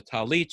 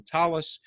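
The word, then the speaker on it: tallit: culture and language so for the prayer shawl in sephardic pronunciation it's a talit rather than talis there's even difference in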